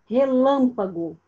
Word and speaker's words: relâmpago: Relâmpago. Qual é a sílaba tônica, Sofia Santos? Abre o microfone. Relâmpago. Lã.